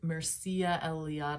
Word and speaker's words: Mircea Eliade: Okay, so numinous experiences are a phenomenon that happens, and the man who kind of coined that term, named Mircea Eliade, I think that's how you pronounce it, he was an anthropologist and historian,